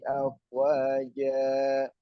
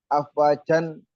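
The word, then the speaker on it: أفواجا: Karena di akhir ayat, ya, dibaca fathah. Afwajan salah bacanya. Karena ini berhenti, atau di sini ada ayat kedua, ya, itu berhenti, bacanya afwaja. Afwaja, bukan afwajan, tapi afwaja, gitu ya.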